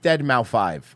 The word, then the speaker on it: Deadmau5: pronounced Deadmau5.